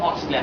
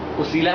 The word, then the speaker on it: ওসিলা: আল্লাহর কাছে যাওয়ার জন্য ওসিলা তলাশ করো, আল্লাহর কাছে যাওয়ার জন্য উসিলা বা ওসিলা তলাশ করো। আরবি শব্দ হচ্ছে ওসিলা, কিন্তু বাংলাতে উসিলা লেখা হয় বলে আমি এটা উচ্চারণ করছি। সম্মানিত ভাইরা আমার, সম্মানিত বোনেরা